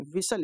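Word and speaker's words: whistle: 68 number में कि च letter is are silent in the word जो विस्टल है ठीक है विसल इसे पढ़ते हैं इसे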